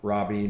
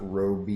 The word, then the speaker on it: Robbie: it's margot robbie yeah that's what i thought robbie not roby yeah i thought it